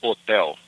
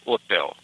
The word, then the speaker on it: hotel: You just say hotel. Okay. Hotel. Yeah, I like that one. That's kind of you almost drop that H out.